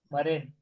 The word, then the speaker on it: marine: क्या होता है ये, उसको pronunciation मरीन, मरीन, मरीन, मराइन, मरीन।